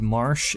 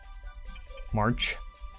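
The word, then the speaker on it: Marche: But Marsh is the, I think that's how you pronounce it, Marsh. March. I usually say Marsh.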